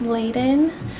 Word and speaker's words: Leiden: So that thing is called uh factor 5 leaden. I've also heard it pronounced leen.